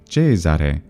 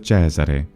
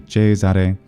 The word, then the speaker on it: Cesare: very frequently as Cesare, because the traditional Italian pronunciation of this is actually Cesare instead of Cesare. In reality, Italians tend to not agree on the exact pronunciation of this vowel, but the older and more traditional pronunciation is most likely Cesare. Pronouncing it Cesare with the open e sound is most likely a learned pronunciation.